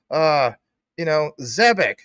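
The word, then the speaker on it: Zebec: Oh, Max says ZBEC. The dev team says, Zebek. You should say what the dev team says. Guess what? Aren't we all learning? Maybe the dev team is actually saying it wrong, according to pronunciation.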